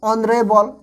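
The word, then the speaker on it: honourable: तरह हो रही है, यहाँ पे एच जो है ये बिल्कुल क्या हो रहा है, साइलेंट हो जा रहा है, इसके वजह से ऑनरेबल तो ऑन, आ क्या हो गया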